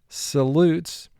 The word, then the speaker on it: salutes: Notice in the word salutes, we're going to pronounce the word with a short A sound, even though vowel group 2 says the vowel is long.